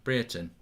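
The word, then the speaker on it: Brereton: one who i've heard pronounce ben brieton correctly in a while have i got it right now britain yes he played quite well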